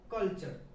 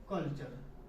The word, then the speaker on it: culture: यदि T के बाद URE आए तो T का उच्चारण च होगी।